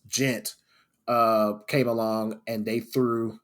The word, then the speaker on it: djent: But then this quote unquote new subgenre, spelled DJent, pronounced gent, came along and they threw them into that category, and they're like, "We're not gent."